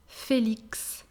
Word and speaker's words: Félix: Félix.